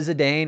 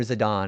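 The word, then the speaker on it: Zidane: Do you prefer Do you pronounce it Zedane or Zidon? I say Zedane. I know a lot of people don't say it like that.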